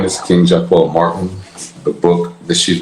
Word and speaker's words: Jaquell: That is how it's pronounced, correct? Jaquell?